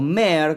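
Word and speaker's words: Mære: Cuando había salido Maere o Mer, como se pronuncia, habíamos charlado con JJ, la voz de la banda.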